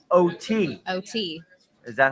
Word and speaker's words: Oatey: Okay, not the drink, people. Not Oatey. Not Oatly. Oatey.